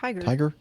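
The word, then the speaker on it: TIGHAR: historic aircraft recovery which how would you pronounce it take our Tiger okay TI ghar that makes sense tiger which includes the recent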